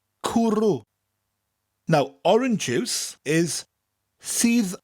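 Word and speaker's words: cwrw: cooroo cooroo cooroo cooroo people who say well she has no vowels will love this word it's spelt c w r w kuru now orange ifs is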